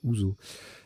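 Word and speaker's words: houseau: bonne question tient bon ça se prononce ouzou c'est une jambière mais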